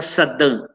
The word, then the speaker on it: Sadin: se chama Eric Sadin, se escreve Sadin, se pronuncia Sadin, ele tem 5, 6